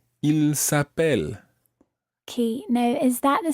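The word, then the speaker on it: ils s'appellent: Well, it actually sounds exactly the same as he is called. Il s'appelle, he is called. Il s'appelle, they are called. But it's spelt differently, and it's got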